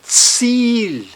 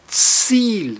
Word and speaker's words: Ziel: Ziel, Ziel, veja, um I e sempre o I longo.